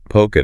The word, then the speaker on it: polka: Polka dots. Yeah. And the L is silent.